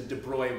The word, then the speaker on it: de Broglie: I'm pronouncing it right it doesn't look like it's pronounced Roy but I think that's the pronunciation so this is the de bruy wavelength and you'll see